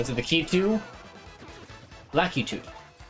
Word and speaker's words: Lakitu: Lakitu. I never like that pronunciation. I always call them lactus. With a low emphasis on the middle syllable.